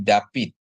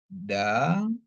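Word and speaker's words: דוד: Jadi pi sama D ya. Jadi David ya. Tapi kalau kita pakai dialek Askenazi, dia jadi bacanya jadi Dawid gitu ya.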